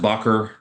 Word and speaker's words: Bakr: And then after he dies, his friend Abu Bakr, it's pronounced Bakr, became the first caliph of Islam.